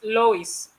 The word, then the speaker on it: Lois: Is it Lois or Louis? Sorry, so I don't pronounce it wrongly. It's Lois.